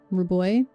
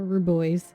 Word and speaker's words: Ruboys: Right now I have a name for the planet, Ruboy, or Ruboys if you like pronouncing the S.